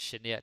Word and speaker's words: genert: So now you probably notice genert is a little bit different in the whole pronunciation thing because it's like she, something in one of these fancy languages. But yeah, that is how we pronounce it.